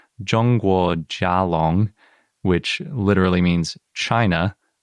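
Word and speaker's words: 中国甲龙: they didn't write out, but it would be pronounced Zhongguo Jialong, which literally means China.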